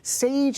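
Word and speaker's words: Säje: It's spelled with an umlaut and a J, so it's not easy to pronounce off the cuff, but Sage is how it is pronounced, and they are going to be performing.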